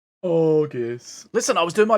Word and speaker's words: Aegis: Like a hard G, like egg. Aegis.